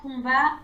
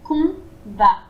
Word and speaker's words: combat: Donc, branle-bas de combat dans le salon. J'ai peur de me lancer. Branle-bas de combat dans le salon. Oui, alors combat, c'est pareil, on prononce pas le M. C'est combat.